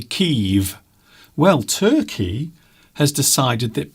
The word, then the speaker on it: Kyiv: But for all my life, we always called it Kiev. But we now know that it's actually pronounced Kyiv since the war. But we always used to call it Kiev.